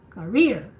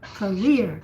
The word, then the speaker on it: career: Just don't sound too much the first syllable. You just say, it's like you say rear, career.